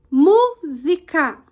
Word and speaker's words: música: Por exemplo, música. O mu é a sílaba tônica, contando de trás para frente sempre.